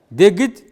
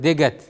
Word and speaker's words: дегит: Дегит – слишком. Дегит пишется, ну, у нас в разговорной речи мы часто слышим выражение дегат. Дегат, да? Это то же самое слово дегит.